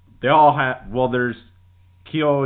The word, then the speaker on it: kyonyu: Uh and they all have Well, there's Kio. Am I pronouncing that? Ko new. It's K Y O N Y u which translate to big breast.